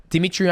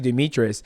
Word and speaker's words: Demetrious: I I I I she said demetrian I was like it's actually Demetrius and then Destiny goes